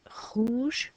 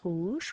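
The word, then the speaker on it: rouge: you don't say e you normally never say an e on the end of the French word so you write it but you don't say it so what you're gonna write it on your paper but when we say it hoosh we're not going to sound out the e so green was ver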